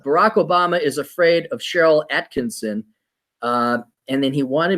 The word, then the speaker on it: Sharyl: Cheryl is spelled Sharyl.